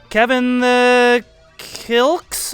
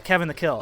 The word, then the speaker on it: Kevin the Kill: Oh, the X sign. Okay, Kevin the Kill. Okay, that makes a little more sense. I was like, is it like Scottish, like kilt, like a hacker way of pronouncing kilt? But yeah, Kevin the Kill. That makes a lot more sense.